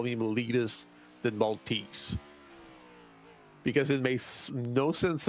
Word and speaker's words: Malte: That's not how you pronounce it. Multi. No. That's the one. Malte. Malte is the closest you can get in English.